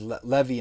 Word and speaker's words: Levi: like levi is written as uh which is levy in hebrew is is is written as lawy